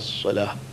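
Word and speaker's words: صلاة: It is not like salah. Salah is the first hay which comes out of the mouth only.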